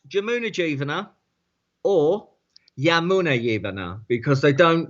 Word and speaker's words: Jamuna Jivana: pronounce Jamuna Jivana or Yamuna Yivana because they don't. The J is very much like Spain. Yeah, It's pronounced as a Y in India.